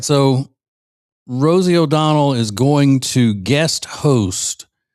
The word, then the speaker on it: O'Donnell: sisterin will say Rosie O'Donnell. It's not O'Donnell, it's O'Donnell. No D on the end. No D for Rosie. You get it? You don't get it. All right, so Rosie O'Donnell is going to guest